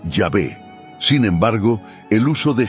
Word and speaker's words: Yahvé: Los estudiosos modernos tienden a inclinarse por la segunda opción, señalando que una pronunciación más precisa podría ser Yahvé.